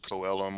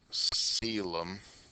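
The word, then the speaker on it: coelom: The the formal term for the body cavity is the sealum. It's not pronounced coalum or seolum. It's pronounced like sealum.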